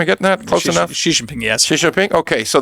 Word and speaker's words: Xi Jinping: Oh, in the same way that as a teenager, the Chinese boss, Xi Jinping, how do you pronounce his name properly? Am I getting that close enough? Xi Jinping, yes.